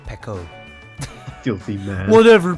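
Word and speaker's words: Peko: It's pronounced Pecco. Filthy man. Whatever, Pico.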